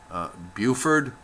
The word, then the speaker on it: Buford: include Aspen Vale Snowmass Buford buf ORD I believe that's how it's pronounced and trappers Lake I